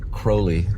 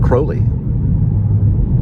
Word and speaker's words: Crowley: Like my last name is because there's an EY at the end. So it makes the vowel sound long. So the O is in the middle of the word, so EY would make it Crowley.